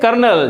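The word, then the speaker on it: colonel: इसको निमोनिया नहीं कहते राइट अगला वर्ड है कर्नल जैसे आर्मी में कर्नल होते हैं ना इनकी स्पेलिंग क्या होती है भाई क्योंकि के की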